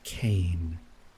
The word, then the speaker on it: Kain: I forgot to pronounce the N, I'm sorry. It's Kane. Kane.